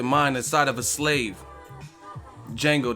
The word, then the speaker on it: Django: inside of a slave Django the D is silent I mean your bit